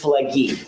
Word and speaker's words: Pileggi: It's Pileggi with a hard G.